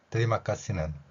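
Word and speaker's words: terima kasih: 뒤에 마카이라 표현되 있는데요이 뜨리마까시 티를 쌍 디귿으로 표현하고요 영어의 알파벳이가 다양하게 소리가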